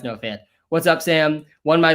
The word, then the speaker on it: Fant: uh noah fant and i called him no font and man i got an insane amount of comments just that were just font font font font it is pronounced no fan what's up sam won